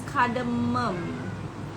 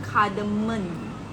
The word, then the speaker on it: cardamom: a m o m is kadum not kardamon but people always spell